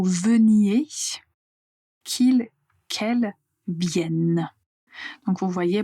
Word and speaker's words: vienne: qu'il qu' quel qu'elle vienne. Donc vous voyez pour le verbe venir comme le radical contient deux n, on va clairement prononcer la lettre n vienne.